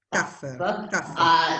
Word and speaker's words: tougher: Tougher. This is not G8, it's F. Tougher.